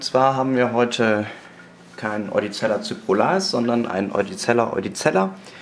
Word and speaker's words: Eudicella: Und zwar haben wir heute keinen Oedicella cyprolaris, sondern einen Oedicella oedicella.